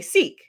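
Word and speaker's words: Sikh: person an Indian person the way to pronounce that word is sick but if you speak in English people will say Seek right right because if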